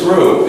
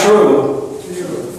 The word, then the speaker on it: through: pronounced the same way true through through through no notice my tongue through through through if you say if you say true true true through through through it's a different pronunciation entirely through through a a